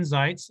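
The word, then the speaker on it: Zajic: So again, my name is Zitz, and kudos for pronouncing that right. It is Z-A-J-I-C, so it is not easy for my 5-year-old twins to spell their own last name.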